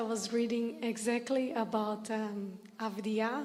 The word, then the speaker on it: avidya: Funny fact, I was reading exactly about um avidya, like ignorance of the self, before coming here in a book. Ah, avidya. Yes, yes, yes. I'm not sure the pronunciation.